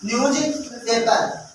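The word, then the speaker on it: newspaper: एक अपना action read न्यूज़पेपर, क्या बोलते अपन न्यूज पेपर, न्यूज़पेपर, पेपर रोंग है ना, रह नहीं आएगा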